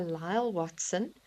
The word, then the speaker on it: Lyall Watson: So, it's it's a book by Lyall Watson and his name is spelled L Y A L L and then Watson W A T S O N.